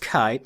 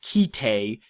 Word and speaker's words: Kite: that kite and yes it is pronounced kite not ki Tay is one of the more surprisingly influential anime to hit the u.s.